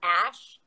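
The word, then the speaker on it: Æ: Someone in the comments says apparently the AE combination thing is pronounced ash.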